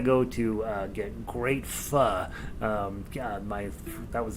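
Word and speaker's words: phở: ever want to go to uh get great fun um god my that was the first place i ever got fu and a pho pho we know all americans call it foe uh it's called pronounced fu uh oh my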